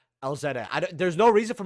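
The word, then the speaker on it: Elzette: know by the way Elija here or it's not called Elijah elzetta I there's no reason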